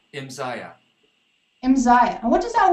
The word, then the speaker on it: Imzaia: Imzaia.